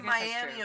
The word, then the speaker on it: Miami: London Tennessee that's not all right there's a Miami Oklahoma but it's pronounced miam really oh yeah well it's the